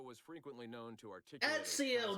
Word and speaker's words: Ezio: It's Ezio Auditore, not Enzio.